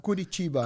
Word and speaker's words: Curitiba: How do you say Churiliba? Curitiba. Curitiba, okay.